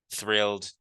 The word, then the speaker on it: thrilled: It's a little bit difficult to pronounce. I can say that. Thrilled, thrilled, because you have to know how to pronounce the TH, and then you should be able to pronounce the R well, which is a guttural sound.